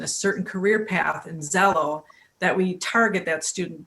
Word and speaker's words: Xello: Zello is spelled Xello. It's their new trademark name. Okay. So not even close to like Zillow, where you go online and find the value of your home.